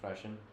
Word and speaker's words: Prussian: I'm rolling my Rs when I say that, but it's technically Prussian. I think it's technically pronounced Prussian. I just like saying Prusian better because it's more fun.